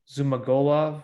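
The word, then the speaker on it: Zhumagulov: right against jerome rivera in the flyweight division zuma golov right is how you say it zuma glove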